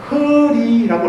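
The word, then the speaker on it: ह्रीः: 같이 오늘 완전히 알았으면 좋겠는데, 이자가 허리라고 했습니다. 허리. 같이 한번 말씀해 보시죠. 허리. 날씨가 흐리다 할 때 그거예요. 허리. 다시. 허리가 뭐냐니까, HRIH로 발음해요. HRIH로 발음이 허리 이렇게 되는데, 이자는 아미타불의 종자자예요.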